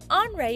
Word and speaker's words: Henri: is andre matisse now andre is kind of a strange name to us it looks like henry but andre is how they say it in france and that is where